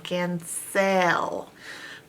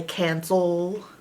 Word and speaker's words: cancel: pencil cancel pencil it's if normally it was phonetically sounded out you would say sale it would say and this would say e pencil can sell but people don't pronounce it can sell and pencil they say cancel and pencil so it's just kind of a lazy way to pronounce those final vowel and L cancel pencil cancel pencil